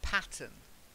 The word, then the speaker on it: pattern: Shawn that's it's good then pattern make sure you get that out and the per it sounded a little bit like button when I heard it patent patent better good good and then